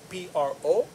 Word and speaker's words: proletariat: Well, if I had to spell it, B-O-U-R-G-E-O-I-S-E, bourgeoisie, the moneyed class, exploits the proletariat, P-R-O-L-E-T-A-R-I-A-T, proletariat.